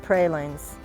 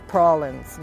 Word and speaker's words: praline: the south you learn it's not pralines it's prawlins you know pecan pecan